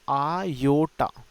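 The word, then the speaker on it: iota: ठीक है, मैं हिंदी में भी लिख देता हूँ आयोटा, है ना। इसको प्रोनाउंस करने का तरीका आयोटा है, ये इसका नाम है आयोटा।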